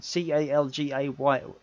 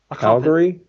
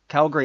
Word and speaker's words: Calgary: He comments that met Matt in how do you pronounce that town? Calgay. Yeah. I'm terrible pronouncing. You should have done this, Chuck. I'm terrible today. I'm not reading it. I don't know. Calgary. Calgary, that's it.